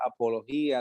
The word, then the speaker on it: apología: En griego es la palabra apología, de la cual viene la palabra apologética. Is that how you say it in Spanish? I guess. Apología. I think we say it the same way, apología.